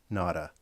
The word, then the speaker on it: Nada: So I know it's pronounced nada. It's a Spanish word for nothing because he is nobody.